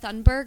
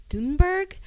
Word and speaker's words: Greta Thunberg: Yeah, so I'm portraying Greta Thunberg, or I actually heard the other day that it's pronounced Thunberg.